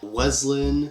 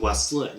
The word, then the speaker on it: West Linn: do but you know clamus willit weslin no it's clus will liit and Westland also I forgot to